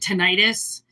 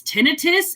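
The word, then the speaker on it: tinnitus: Which most people would pronounce it tonitis. It's not called tonitis. It's really annoying when people call it tonitis. It's tinitus exactly the way that it's spelled.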